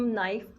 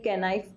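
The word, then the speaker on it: knife: और पहले आपको मैं ये बताना चाह रही हूँ, उसको हम नाइफ पढ़ते हैं। क्यों नाइफ पढ़ते हैं, कैनाइफ क्यों नहीं पढ़ते? क्योंकि के क्या होता है, साइलेंट होता है।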